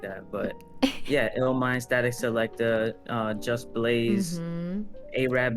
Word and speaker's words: Illmind: You know, he's worked with some of the best producers, musicians out there, like Ilmond. Some of the producers, I can't even pronounce their name.